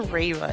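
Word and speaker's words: Reiwa: So we're in the Reva era, as that's how you say it. Making sure I'm saying this right. We're in the Reva era right now.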